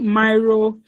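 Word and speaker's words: Miro: I know many people pronounce it different ways. Some people call it myro is m i o.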